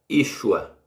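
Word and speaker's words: ישוע: Esse nome aqui, sem sinal massorete, se pronuncia Yeshua. Aliás, é Yeshua.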